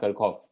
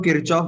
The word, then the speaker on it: Kirchhoff: इसको I think बोलते हैं कर्कॉफ। जर्मन था या सर मैं तो किरचॉफ बोलता हूँ सर इसको। मैं भी किरचॉफ ही बोलता हूँ, लेकिन वैसे इसको शायद कर्कॉफ बोलते हैं, यहाँ पे इसको हार्ड के बोलते हैं।